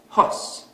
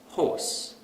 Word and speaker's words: horse: So, we might pronounce this word as hos instead of horse.